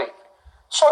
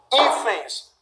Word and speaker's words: hífens: Esse é o primeiro plural aqui, só destacando que a sílaba tônica continua sendo essa. Hífens, isso aqui é mais forte.